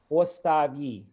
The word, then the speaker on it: остави: Slavonic pronounces all the vowels fully as if they were stressed. So I'm going to read across line by line. Voля, voля. Земле, земли. Оставь, остави.